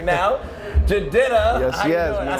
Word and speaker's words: Jidenna: It's JR at this year's U92 Toyota Summer Jam, and I have a very classic man with me right now, Jidenna.